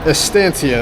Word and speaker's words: Estancia: Dude, I say the name wrong every single time, dude. Estancia, that's how it is.